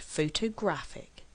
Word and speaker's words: photograph: what does this mean photograph has three syllables and we actually stress on the first syllable photograph photographer has four syllables